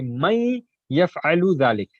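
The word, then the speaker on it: من يفعل ذلك: words into parts and man yaf'alu dhalik. But while pronouncing, you'll say may yaf'alu dhalik. That is the idgham that we are going to join the ya with the nun sakin.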